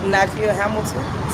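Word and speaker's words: Nykia Hamilton: Nakia Hamilton. Spell it for me.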